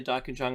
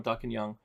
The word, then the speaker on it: Darkinjung: Now, you might hear me say Darkinjung or Darkinjung, Darkinjung. They're all different pronunciations, and no one has declared any of them to be incorrect.